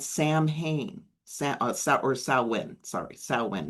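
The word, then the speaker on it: Samhain: You know, the Gaelic festivals, the it's called Sam Hayne, Sam Sa or Sawin, sorry, Sawin, not Sam H. looks Sam Hayne but it's pronounced sawin where they celebrate from October 31st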